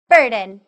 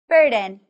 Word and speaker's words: burden: other burden burden burden remember that b-u-r is pronounced as fur and this syllable is also stressed say it aloud burden burden good burden is a